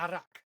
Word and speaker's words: Arak: But Arak. It's like Arabic, it's okay, all right. Something, it goes in that direction.